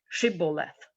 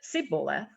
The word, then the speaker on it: shibboleth: they said all right say shibboleth if they said siboleth because he could not pronounce the word correctly they seized him and